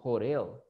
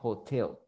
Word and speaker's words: hotel: medio de vocales, pero eso no quiere decir que usted va a decir hotel. No, ¿verdad? Esta palabra se pronuncia hotel. Hotel, hotel. Lo mismo si quiere decir motel. Motel, motel, hotel, hotel. Tienen la misma pronunciación, ¿sí?